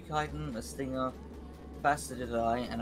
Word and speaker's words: chitin: You get one for each of the, and apparently I've been saying it wrong. Apparently it's pronounced chitin.